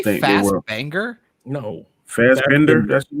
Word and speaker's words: Fassbender: Fassbender. That's his name. Oh, okay. That's I was like fast banger.